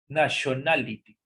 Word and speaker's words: nationality: la T normal, pero en algunos casos se pronuncia como una SH, nationality.